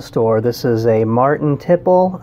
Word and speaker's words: tiple: this is a martin tipple i've also heard it pronounced to play but uh most of the time i hear it called tipple so that's what i'm gonna go with um so what this